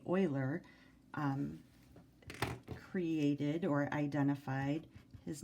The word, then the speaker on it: Euler: or I should say Euler created or identified his name is spelled e UL e r and this is U boilers number it's pronounced oil uh-huh okay and that